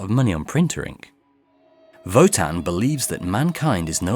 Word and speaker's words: WOTAN: yes sorry i forgot you have to pronounce it in a german accent to really hammer home the nazi metaphor the machine is called votan spelt with a w votan can think for itself